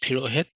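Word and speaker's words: Purohit: Middle initial is B like boy, and my last name is Pirohit.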